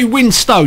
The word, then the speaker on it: Winstone: Okay, we got Ray Winstone. You notice I said Winstone. That's because that's how you pronounce Ray Winstone.